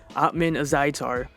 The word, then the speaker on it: Ottman Azaitar: Ottman Azaitar, who is 13-0.